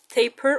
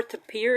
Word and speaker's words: tapir: So today's words, as given to me, were tapir or tapir. It can be pronounced. The animal's name can be pronounced anyway, so it rhymes with paper or appear.